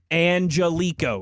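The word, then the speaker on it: Angelichio: And they have it Angelico is how he pronounces his last name.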